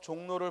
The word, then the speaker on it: 종로: 그래서 종로를 발음 나는 대로 종하고 뭐야? NO. 왜냐면 표기에는 로가 적혀 있지만 발음은 비음화가 일어나니까 그대로 종로.